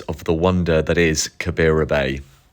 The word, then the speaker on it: Kabira: our first stop is the stunning Kariba Bay excuse my pronunciation that should be kabira Bay the coach dropped us